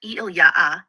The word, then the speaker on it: Ilya: Ilya, pronounced eily ya. Soft, flowing, like a lullaby in a cave of stars.